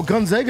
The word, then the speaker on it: Gonzaga: still saying it wrong no Gonzaga is how you see it right they're the zags Gonzaga GGA it's Gonzaga you're making he told you how to say it and you're still saying it wrong Alabama who else Alabama